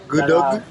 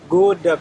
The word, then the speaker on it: Gudeg: Gudug. Gudeg.